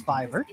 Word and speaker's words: Fiverr: Fiverr. Fiverr. Oh, Fiverr. it's Fiverr.